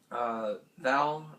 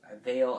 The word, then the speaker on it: Val: Next, I would like to talk about Val, or Vale, however, I'm pretty sure it's Val. It's spelled V-A-L.